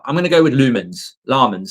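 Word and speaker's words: Lammens: a sports commentator from Answer told me it's pronounced lmen ls lmans in Philip ls on the end llmans. There we go. We'll find out. I'm going to go with lumens.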